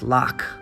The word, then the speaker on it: lough: ello ugh s sometimes pronounced low in English but here it's loc this recreation of the